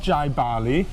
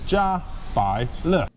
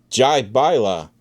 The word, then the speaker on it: Jiabaile: A quick lesson in how to pronounce this. What? This is not Jiabaile, it's not Jiabaile, it's not whatever you guys are saying. This is Jiabaile. Jiabaile.